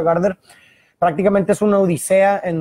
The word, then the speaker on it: Gaarder: El autor del libro es Justin Gardner, se pronuncia Gardner.